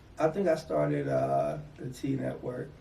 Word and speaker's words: T.E.A. Network: The T.E.A. Network? T Network. T Network? Okay, yeah. So I wasn't sure because it had the periods in between.